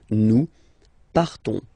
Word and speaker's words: partons: So classic ending ONS, you don't pronounce the S, you just have this on sound nasal. Nous partons.